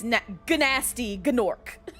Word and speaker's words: Gnasty Gnorc: It's Gnasty Gnorc. Spelled with a G.